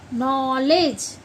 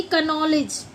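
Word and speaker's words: knowledge: जैसे कि आपने देखा होगा के एन O double L ई डी जी ई नॉलेज ना कि कनॉलेज ठीक है ऐसे ही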